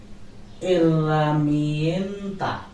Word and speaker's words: herramienta: Herramienta. Because H will be exist in the word, it will never be pronounced.